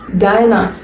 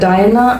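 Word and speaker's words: Diana: டயனா, டயனா அப்படிங்கிறது ஒரு name. So அது நீங்க டயனா அப்படியும் படிக்கலாம், டயானா அப்படியும் படிக்கலாம்.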